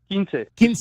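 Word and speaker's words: quince: Kins Kins short and sweet is the full thing. Yeah, you know, kins is how how I grew up saying it,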